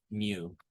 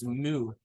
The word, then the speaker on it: mu: It's mu, but it's mu. In case you're wondering. Okay. All right. So far, so good. Stop talking about Pokemon, you nerds. It sounds like Mew from Pokemon, but you guys only start talking about other Pokemon.